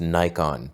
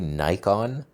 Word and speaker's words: Nikon: Nikon by the way in America every time I say Nikon it's pronounce Nikon you're a Nicko and elf go like build some raspberry bread or something like it's this is how Americans pronounce it's even officially said but in America it's pronounced Nikon like Nike we're morons this is